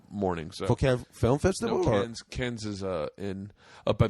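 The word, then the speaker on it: Cairns: so can film festival can is uh in up by the great Barry Reef it's spelled car oh okay okay never mind it's can so uh yeah we're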